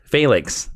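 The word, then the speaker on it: Phalanx: when Miguel learns that the Fack or the FX is that how you say it failen failinks thank you I like to call the phenx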